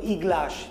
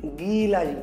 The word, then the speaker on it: গিলাস: না, ইকার যদি গয়ের আগে হতো তাহলে উচ্চারণটা হতো ইগ্লাস। ইগ্লাস না, শব্দটি কি গিলাস, গি।